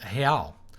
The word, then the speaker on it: real: you for the comment and Portuguese the R is pronounced as an H and this it comes after a foul Oh so a realice pronounced a hail and the plural hey eyes no interested see I